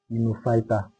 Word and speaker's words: Gnetophyta: While the last one is the gnetophyta. The G is silent. That's why we call it gnetophyta.